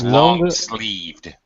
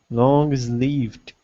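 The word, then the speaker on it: long-sleeved: adjectives it's tricky because sometimes we pronounce the ED as a separate syllable and sometimes we don't in this case with it we don't so it's long sleeved longer is leave it long sleeved is it good that's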